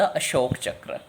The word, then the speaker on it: अशोक चक्र: बोलते हैं को तुरंत इसे अशोका नहीं बोलना अशोका चक्र नहीं बोलना बेशक इन दोनों वर्ड्स कैंट में यह लगा हुए पर उसकी आवाज साइलेंट तुमने अशोक चक्र ही बोलना है है नेक्स्ट पर